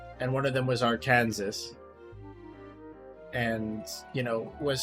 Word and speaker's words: Arkansas: was spelled and pronounced Arkansas. So, uh, they compromised that. The compromise was we'll pronounce it Arkansas, but spell it Aranansas.